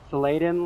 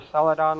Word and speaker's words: Saladin: So, if you want to look him up, his name used to be Saladen Lantern or Saladon Lantern. It was I think it's pronounced Saladin.